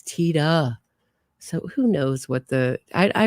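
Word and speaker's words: Tiede: So the reason I'm pronouncing it Tita, I hope I'm pronouncing it Tita. My boyfriend just handed me a note and said, it's pronounced in the movie T-Day, but there's an interview with him where he says, no, it's Tita.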